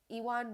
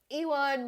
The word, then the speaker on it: Ewan: to pronounce his name iwan mcgregor you win ewin ewin even evan no it's ellen owen ellen allen ewan mcgregor as father patrick mckenna